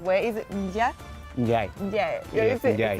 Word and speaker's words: Ndiaye: And I said Ndiaye, but your surname is pronounced in a different way. Is it Ndiaye? Ndiaye. Ndiaye.